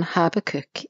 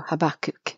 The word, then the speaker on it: Habakkuk: month and I'll cover in the chapter on Harbor cook in this episode or habakkuk depending on how you say it Parker Bradley